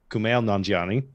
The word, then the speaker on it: Kumail Nanjiani: So we have, I can never say his name right, Kumail Nanjiani from Kumail Eternals. Nanjiani. Kumail Nanjiani There you go.